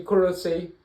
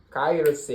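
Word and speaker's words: Kairōseki: Tu realmente poder nadar, poder perder essa fraqueza de Korosei, é Kairosei. Eu falei Korosei, né? Kairosei, pronúncia errada.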